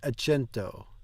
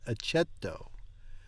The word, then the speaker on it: accetto: Va bene, accento. There's no N in that. Accetto.